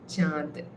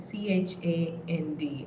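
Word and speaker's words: চাঁদ: spelled with in English C h a n d or ch h a a n d. So that n is the chandraindu. It's it's not really chand with the n.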